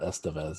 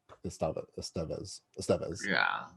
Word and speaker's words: Estevez: The correct pronunciation of Emilio Estevez's name is not Estevez, it's Estevez. It is? Yeah. I just watched a thing with him, and they asked him straight up, and he's like, everyone says Estevez, but it's not. It's Estevez. The accent is on Estevez.